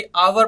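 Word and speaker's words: hour: रहेगा ओके जैसे की देखते हैं आगे हा साइलेंट कौन-कौन से शब्द में राहत है जैसे की अवर पढ़ने हैं इसको हम हर नहीं बोलते जो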